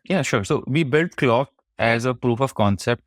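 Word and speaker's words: Klok: How do you pronounce this? Is it Clock or Yeah, did I clock say it is right?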